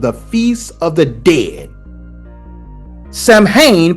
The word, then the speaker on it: Samhain: Samhain, pronounced Samhain, of course, was on November 1st.